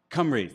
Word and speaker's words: Cymru: One of the tools here from Team Cymru, I don't know how to pronounce them properly. Team Cymru? Cymru? Cymru, thank you.